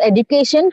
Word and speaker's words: education: second degree okay so the word education has two prominent syllables so see how the highest degree of acts are you reading the passage are you reading from the book yes sir actually uh just i understand this in the education we are stressing on the third syllable the prominence is given